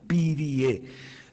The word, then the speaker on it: Pirie: Madsen Pirie se escribe así como suena, Pirie.